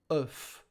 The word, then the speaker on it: œuf: O plus U are silent. So it goes like œuf. E plus F.